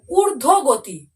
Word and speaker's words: ঊর্ধ্বগতি: ভালো করে কিন্তু মন দিয়ে বারে বারে কিন্তু শব্দের উচ্চারণগুলো ভালো করে শুনে নাও। দেখো, তারপর দেখো ঊর্ধ্বগতি।